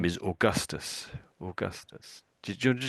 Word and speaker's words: Augustus: So although it's OAU, we sort of say as if it was perhaps OR or something. We say or at the front, or. That's how that's pronounced.